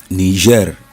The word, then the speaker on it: Niger: three different confusions normally ner is different from Niger state nigas is the same spelling but different pronunciation there's ner which is Niger Republic then uh we have